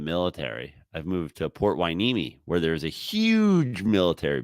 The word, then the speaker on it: Port Hueneme: Dude, I can't be saying coming to you live from Port Hueneme. No, you could just, you can say whatever you want. Did I say that? Did I even pronounce it correctly? No. Hueneme. Port Hueneme?